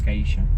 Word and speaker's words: Geisha: And then in Spanish, the accent is over the second to last syllable, so it's Gaisha.